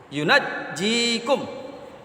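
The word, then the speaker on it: يُنَجِّيكُم: Dibaca dengan takhfif, maka bunyinya adalah yunjikum. Sedangkan jika dibaca dengan tasdid, yunajjikum.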